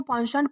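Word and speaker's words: penchant: इसे जो है वो पॉन्शॉन्ट प्रोनाउंस किया जाता है, जिसका मतलब होता है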